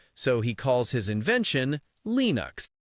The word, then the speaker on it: Linux: The standard American English way to say it is Linux. Linux. The I sound is short like in sit or is linux.